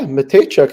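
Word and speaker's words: Mateychuk: uh Denton matek goes out injur did I pronounce it right yeah matek is how you say it you got all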